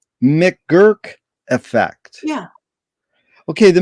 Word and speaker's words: McGurk: Let me see if I can pronounce it correct. McGurk effect. Yeah. Okay, the McGurk effect.